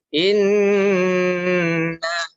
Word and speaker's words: inna: Nah, jadi apabila kita ketemu dengan nun bertasydid, Nah, itu kita membacanya kita harus sedikit mendengung dan juga harus kita tahan. Caranya inna. Nah, nunnya itu harus kita dengungkan.